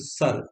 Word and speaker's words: सर: सर, शक्कर वाला शर और रा, शर। तालाब का क्या हुआ? सरोवर जिसको बोलते हैं, तो सर, इसमें सरौता वाला सा आएगा, सर। उच्चारण शर और सर।